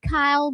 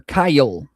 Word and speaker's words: Kyle: We're talking about Kyle or Kyle. Kyle. It's Kyle. Is it one syllable or two? Kyle. It depends what state you're in. Here it's two.